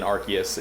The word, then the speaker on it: Arceus: yeah the hard arc the hard c in arceus is uh is an interesting thing i always i thought rc has just always sounded better but you know they'll